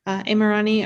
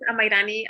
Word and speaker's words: Amairani: Imrani, are you available? Yes. So my name, it's really hard to pronounce, but my name is Amairani.